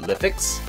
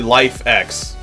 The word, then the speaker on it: LIFX: cuz I was like is it liix liix Li nope it's actually life X literally exactly what it says on the box H it's okay I